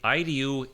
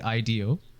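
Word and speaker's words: IDEO: you say it so it's actually ido um yeah like e-y-e yes uh is a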